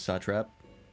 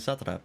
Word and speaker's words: satrap: Al zadal Khan T he pronounces satrap I just keep pronouncing it Saturday I'm an idiot that